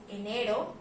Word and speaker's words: enero: Pasamos con la siguiente, que es enero. Enero. Al pronunciarlo podemos identificar que nuestra sílaba tónica, el que se escucha más fuerte es esta.